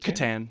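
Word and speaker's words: C'tan: and and star systems how you pronounce the Satan is it sat Katan Katan with a c yeah Katan uh they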